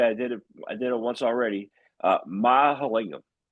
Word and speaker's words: Mahalingam: I'm going to pronounce this correctly. I did it once already. Mahalingam.